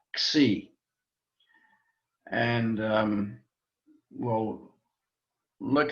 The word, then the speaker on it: xi: Sometimes we put a little X sound on the beginning just to pronounce it either xi, but it's just really xi.